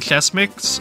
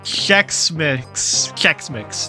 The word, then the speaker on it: Chex Mix: Yeah, I'm the type of person that eats the chess mix. Okay, fuck. Why is this so hard to pronounce? Chess. No, don't tell you hear about this. Chess mix.